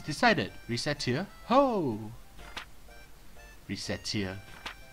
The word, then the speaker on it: Recettear: Recettear. Ho! Recettear. Mispronounce it even slightly and... Racketeer? Racket? Okay, so... I guess it's Recettear? According to them.